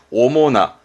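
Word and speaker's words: 主な: 일단 나가오면 발음은 오모나 하면 이건 주자니까 의미는 주된, 뭔가 주된 요소라든가 뒤에 명사 올 때 주된 할 땐 오모나, 주된 오모나.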